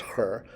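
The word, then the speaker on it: ḥr: You know this because it's the double consonant her, H-R. If you can go back and we've gone through drawing the face a few times. So the face with a stroke line becomes an ideogram, HR, still pronounced her, but is the word face or on.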